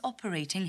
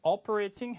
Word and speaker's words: operating: He's operating heavy machinery. He's operating heavy machinery. He's operating heavy machinery. 그죠? operating 이게 이제 북미 발음이면 호주나 영국 발음으로 가면 좀 영국 발음으로 더 T를 둔탁하게 내는 거는 operating.